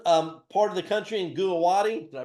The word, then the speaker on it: Guwahati: We put a new office in the northeastern part of the country in Guwahati. Did I pronounce that right? Guwahati, yeah.